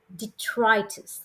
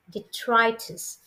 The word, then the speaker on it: detritus: for turning in and today's word is dtis detrus how do you pronounce it dtis repeat after me d dtis detrus d e t r i t u s